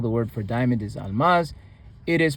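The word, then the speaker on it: አልማዝ: For example, the word for diamond is almas. Almaz. It is pronounced as almas. The L is sixth order but the but only an L sound is pronounced without any vowel attached to it.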